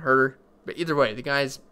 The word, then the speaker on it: Huerter: Kevin Herter, I think that's how you say his name. Always I want to say it's something different, but I'm pretty sure it's Kevin Huerter.